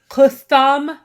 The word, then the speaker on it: Qutham: Every time he says the name, I think crouton and then I think futon. It's actually a TH. It's Qutham. Yeah. Qutham. It's just written with a line underneath it.